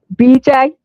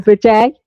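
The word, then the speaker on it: bidet: So now she's discovered she can wash her hair with a bday or a bedet. Is that the way you Americans say them? A bedet. We say a bday cuz I was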